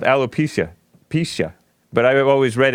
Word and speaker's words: alopecia: alopecia I would pizza how do you pronounce it it's a alopecia hello pizza and I always read it allo pasilla there's an album called